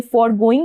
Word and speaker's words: foregoing: Next is, ये बहुत ध्यान दीजिएगा, एक तो मैं आपको अभी बता रही हूँ ये वर्ड FORGOING, फॉरगोइंग, और इसके नेक्स्ट में भी एक वर्ड है जिसको हम प्रोनाउंस करेंगे फॉरगोइंग ही, लेकिन वहां पे जो डिफरेंस जानते हैं क्या होगा? यहाँ पे है FORGOING और वहां पे होगा FOREGOING। ठीक है, ये वर्ब है